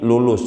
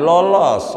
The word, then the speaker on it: lulus: 1000 lama-lama tinggal tiga ini lulus bukan lolos lolos lolos sama lulus tu hurufnya sama lam wau lam wau Sin cuman cara baca doang ini beda itu bisa begitu saudara